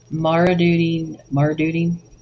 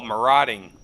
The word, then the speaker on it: marauding: When Tampa was secured against Marduding, that sounds weird. Am I saying that wrong? Marduding. Oh, marauding.